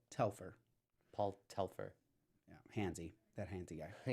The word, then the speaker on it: Paul Telfer: they have paul beck yeah not narita no tefler tefler telfer telfer paul telfer yeah handsy that handy guy yeah i just